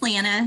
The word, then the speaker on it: Lana: Am I saying it right? Lana or Lana? It's Lana. You're good. I'll take either one. Lana.